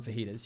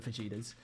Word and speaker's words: fajitas: feta's fajitas is is you got to call them fajitas you can't be calling them fetas but I'm also like